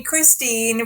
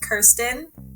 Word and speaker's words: Kirstine: you do that so everybody wants to call me Christine but it it is k i and it once they know me for a minute they'll go oh and I say it's pronounced Kirsten because she curses a lot so once we get